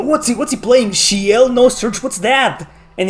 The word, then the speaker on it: Ciel: Shiel. Yeah, I thought it was for years I thought it was Ciel, but no, it's Shiel. Like shield, but without the D at the end.